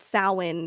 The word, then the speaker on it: Samhain: It's actually it's pronounced Samhain.